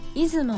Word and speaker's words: 出雲: 方はちょっと難しいですねこれは出雲と読みますした部分は簡単